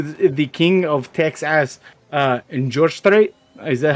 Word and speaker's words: George Strait: So I have listened very much to the king of Texas in George Strait. Is that how you say it? George Strait?